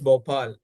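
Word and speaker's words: Bhopal: Yeah, the answer is Bopal.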